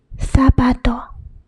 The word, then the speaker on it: zapato: Zeta or theta in Spain. So there are two pronunciations. S, which is in Latin America, and th is in Spain. For example, if in Spain, it's pronounced as zapato, zapato.